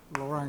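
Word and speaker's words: Laurent: 션을 로 펜션이라고 불러요 프랑스 사람이라 비에 있는 거 발음 안 하고 로랑 익스펜션 로랑 익스팬션을 보기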